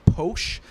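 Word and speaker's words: Pox: It's called Posh. It's spelled P-O-X because the indigenous people there pronounce an X like a sh.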